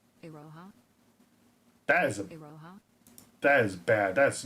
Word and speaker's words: Iroha: Okay, so the O is a little short and the Ha is a little short.